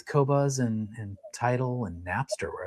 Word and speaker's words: Qobuz: Someone was asking in the comments how to pronounce or how to spell Qobuz.